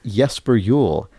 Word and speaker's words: Jesper Juul: he writes it's pronounced yesper Yule as if the Jays were wise his his actual slogan